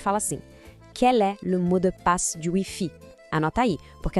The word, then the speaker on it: mot de passe: Vamos praticar essa pronúncia com calma. Ouve primeiro. Le mot de passe. Agora, repete comigo, pausadamente. Le mot de passe.